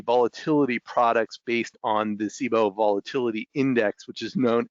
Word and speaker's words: CBOE: Board Options Exchange, or the CBOE, and they pronounce it CBOE.